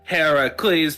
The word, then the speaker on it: Heracles: Heracles is with Greek with a K, and it's pronounced Heracles because he was named after Hera, and that was the Greek pronunciations, and then the Romans screwed it up.